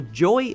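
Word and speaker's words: YoY: good interactive Dark Ride YY or Joy apparently as it's pronounced which I wasn't aware of over at wabby Holland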